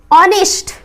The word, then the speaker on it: honest: Honest, now pronunciation is honest. Honest, it means the first letter is O.